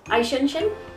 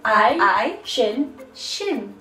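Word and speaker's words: Eichhörnchen: This is how you say it. Eichenchen. Right? And you say it like I. Is it Jodi I? I. Shin. Shin.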